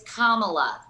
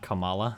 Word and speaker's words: Kamala: senator harris's name not kamala yes i acknowledged that after you told me i even acknowledged it but you kept saying camelot it's commonly just think about a punctuation mark i can't tell if